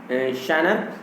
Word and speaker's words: genre: His sonnets are not sonnets only in शैनर, तो उनके जो सोनेट्स हैं वो केवल सोनेट्स नहीं है इन शानर। शानर का मतलब होता है GENRE, इसका लेकिन जो प्रोनाउंसिएशन थोड़ा अलग है, शानर।